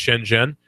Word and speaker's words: Shenzhen: go on youtube and look up shen jen that's see or sorry sh en ze n it's pronounced shen jen look up shen jen